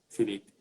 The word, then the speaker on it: Phyllyp: eu o Felipe Neto Felipe isso mesmo pronuncia normal Felipe e leve complicadinho é